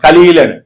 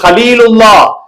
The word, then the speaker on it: ஹலீல்: கலீலுக்கும் ஹலீலுக்கும் நிறைய வித்தியாசம் இருக்குங்க. இப்ராஹிம் அலைஹிஸ்ஸலாம், இப்ராஹிம் ஹலீலுல்லா. ஹலீல் சொன்னா க்ளோஸ் ஃப்ரெண்டு, டியர் ஃப்ரெண்டு. புரியுதுங்களா? ஹலீலுல்லா, ஹலீலுன்னு வரணும். நம்ம அதிகம் பேர் ஹலீலுன்னு பேர் வச்சிருவோம், கூப்பிடுறதெல்லாம் கலீல கலீலுன்னு புத்தி இல்லாதவன், அறிவு குறைஞ்சவன் அர்த்தம். புரியுதுங்களா? அதனால ஹாவா தான் உச்சரிக்கணும்.